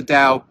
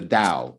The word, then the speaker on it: Tao: to talk about the dao what is the dao well it's spelled t-a-o and it's one of